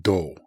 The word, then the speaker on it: 道: Michi is more complex. And this is um this is uh better known with a compound and in compounds it's often pronounced do, but it is more